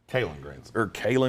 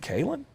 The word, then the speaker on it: Kalen: Kalen Granson. Colts. Is it Kalen?